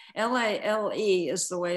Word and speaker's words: Lale: Can you go back to how you were introduced And first of all, would you tell me how you pronounce his name? L A L E is the way it's spelled in the book.